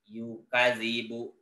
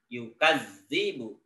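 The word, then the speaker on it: يُكَذِّبُ: Beat Jin tidak Hai membacanya tidak yukadzibu tapi yang benar yukadzdzibu Arai dan Lazio kadzibu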